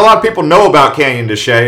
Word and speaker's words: Canyon de Chelly: canyon de chelly it sounds like it's called canyon de chelly but it's actually pronounced canyon de chelly this place is basically the epicenter of the